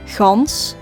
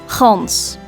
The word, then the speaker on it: gans: Netherlands, but generally speaking, the southern part of the Netherlands pronounces the G in a rather airy way, gans, while the northern part of the Netherlands pronounces the G in a very harsh way, gans, goose, gans, house, huis, yes, ja.